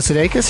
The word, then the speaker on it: Sudeikis: Jason Sudeikis?